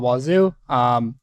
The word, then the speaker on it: Wazuh: So today I'll be going over Wazuh, Wazuh, or multiple people pronounce it different ways. But I call it Wazuh.